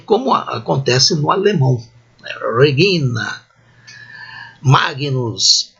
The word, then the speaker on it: magnus: A consoante palatal existe em italiano, em português. São consoantes formadas por um processo de palatização do latim para o português. Mas em português, em latim, não existe. Então não é G, não é Regina, é Regina, não é Nhe, não é Magnus, é Magnus.